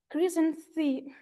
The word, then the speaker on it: chrysanthemum: Chrysanthemum. Chrysanthemum. Chrysanthemum. Chrysanthemum. Well, it's such a difficult word, but the first sound is kr.